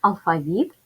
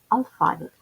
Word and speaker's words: алфавіт: послідовності букви будь-якої мови в українській мові це слово має подвійний наголос алфавіт алфавіт запишемо транскрипцію цього слова